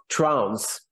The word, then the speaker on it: Trounce: do I pronounce that name it's uh it's pronounced trans as in punishing severally more or less something